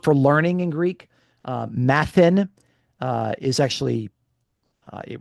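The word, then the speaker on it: μαθεῖν: Um uh and and actually the the verb for learning in Greek uh mathan uh is actually uh it rhymes with the verb for suffering pathn. Okay. So matan and pathan.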